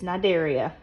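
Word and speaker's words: Cnidaria: remember that okay now the sea is silent this is nidaria this is a really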